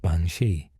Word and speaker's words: Bean-Sidhe: The Bina, pronounced bansi, is a supernatural woman whose cry warns certain Irish families of an approaching death.